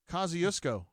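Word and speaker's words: Kosciusko: and the people in Kosciuszko thought that I did but I was quickly corrected on Twitter what is the correct pronunciation it's like coziest I don't know Cosi something I must have gotten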